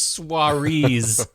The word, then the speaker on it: Saoirse: It's soirees, not Saoirse Ronan.